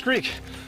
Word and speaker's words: Skrik: Skrik, correct, or Strik, it's Skrik.